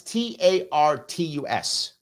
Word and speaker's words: Tartus: I think it's pronounced Tartus, I think. I'm going to look at it right now so I can find this thing here. It is, I think it's pronounced Tartus. It's Tartus.